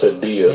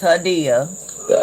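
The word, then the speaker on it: Hadiya: For those that don't know, that is Hadea Green. It's actually pronounced Hadea. It's Hadea.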